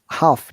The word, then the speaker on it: half: and a half hour half remember l is silent one and a half